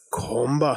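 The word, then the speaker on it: གོམས་པ: And it's pronounced Komba.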